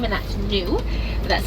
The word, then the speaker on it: Gnu: Now, wildebeest are known by a second name, and that's Gnu. That's spelled G-N-U, and that comes from the grunting sounds that they make.